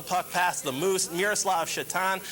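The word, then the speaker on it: Šatan: And then the Sabres are finally able to get the puck past the Moose, Miroslav Shatan, spelled like Satan, and this is just evil.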